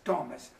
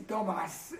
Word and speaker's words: Thomas: os últimos muitos anos eu não mudei meu nome mas eu pronunciei Estou pronunciando meu nome como faz em inglês Thomas na no época de manga me conhece Tomás então só para não estranhar Tomás então não foi só